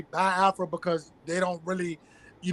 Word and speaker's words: Biafra: the i e sounds but it's B Afra because even myself even with my my my Southern you know say accent is like I get tongue tied and I say ba afro so it's ba afro you know what I'm